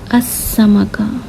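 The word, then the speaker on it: السمكة: तो आप किस तरह इसे प्रोनाउंस करोगे? अस्समका, अस्समका। तो आपको डायरेक्ट इस हमज़तुल वस्ल के बाद इस सीन के पास जाना है यानी हुरूफ शमसिया के पास, और उसे शद के साथ प्रोनाउंस करना है।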